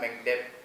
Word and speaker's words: MECDev: tadi gelarnya itu adalah Mekdev. Kalau bacanya Mekdev, tapi kalau tulisannya itu MECDev.